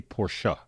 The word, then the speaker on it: Porsche: your side really quick, just say Porsche. Say 2 syllables, because they're going to